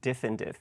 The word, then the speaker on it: diff-in-diff: so in terms of diff and diff how do you how do you say it uh diff and diff so uh oh diff and diff yes like chip and Di yeah similar but there's